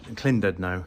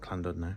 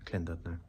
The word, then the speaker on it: Llandudno: community center so uh Clint Clint no is apparently how you say it not cland no Clint no I've got the cliff right but not the the the clid now I think it's called